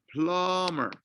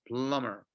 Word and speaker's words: plumber: no no no plumber the B is not pronounced so it is pronounced plumber okay you hear it as plumber number five repair person